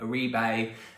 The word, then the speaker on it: Oribe: I used to love the Orbe one, Orbe, whatever, however you call them, Oribe. It is pronounced Orbe.